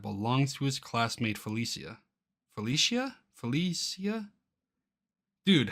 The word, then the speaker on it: Felicia: Felicia? Dude, how do you... Am I dumb? Felicia. Pronunciation. In English, it's often usually pronounced as Felicia.